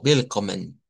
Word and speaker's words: willkommen: la diferencia de que la W en el Deutsch se hace como una V, ya, como willkommen.